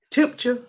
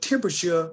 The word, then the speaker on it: temperature: word describes that well they were using two and three syllables temperature and temperature that's how they were pronouncing well i knew the word had four syllables because that comic book had temperature in it and i saw i'm